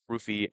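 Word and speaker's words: Ruthye: The girl who played Rufy, apparently that's how it's pronounced Rufy.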